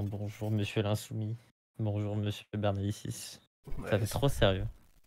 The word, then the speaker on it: Bernalicis: c'est Bernalici, non, il me semble. Bernalici, mais bon, tant qu'on dit les syllabes dans le bon ordre, c'est déjà pas mal.